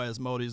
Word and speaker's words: Asmodeus: There you go, Asmodeus.